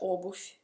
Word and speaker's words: обувь: Si scrive obuvie con V, ma si pronuncia obuf con la fe.